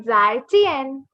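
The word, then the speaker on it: 再见: Now the letter J makes the sound ch. Ch. Ch se chappal. Zai. So we say zai chien.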